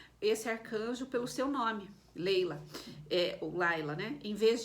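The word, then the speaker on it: Laylah: escreve assim por exemplo se pronuncia Leila se escreve Laila então você pode pesquisar Laila com l a y l a e h no final ou l a i Né Leila Laila se pronuncia Leila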